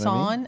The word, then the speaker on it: Sohn: I'm going to pronounce it as Son, Sohn, S-O-H-N.